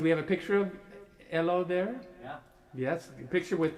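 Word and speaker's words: Helô: what the name is i need a a pronunciation lesson h-e-l-o hello and hello ello hello pinero yes we know that from elo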